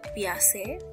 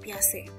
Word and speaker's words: Piaget: Jadi Piaget memiliki nama lengkap itu John Piaget. Ya, jadi dibacanya bukan Piaget ya, tetapi Piaget.